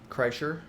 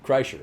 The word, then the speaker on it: Kreischer: Kreischer? Kreischer.